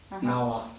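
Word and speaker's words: རྣ་བ: А ва, она читается ва, когда она второй.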